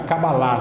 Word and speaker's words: Cabalá: A Cabalá, na verdade, a Cabalá que é a pronúncia, né?